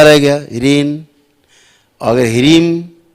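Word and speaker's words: ह्रीं: जैसे कहीं आप पढ़ते हो, आता होगा बीज मंत्र में ह्रीम, तो ह्रीन नहीं पढ़ना है, ह्रीम माँ है, ह्रीम ऐसे मुंह बंद हो गया। ह्रीन तो मुंह खुला रह गया, ह्रीन। अगर ह्रीम तो मुंह बंद हो गया, ह्रीम ऐसे।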